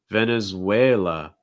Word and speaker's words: Venezuela: um panama next one venezuela venezuela stress third syllable way way venezuela sounds like an a sound with a w at the start way way venezuela venezuela